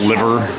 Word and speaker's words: Liver: It's pronounced, spelt liver. They call it Liver.